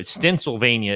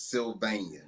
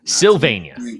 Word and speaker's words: Sylvania: where you're from right stensylvania no i said it wrong the first time yeah i was about to say fix me on this this is so the name of my city is sylvania sylvania yeah not to be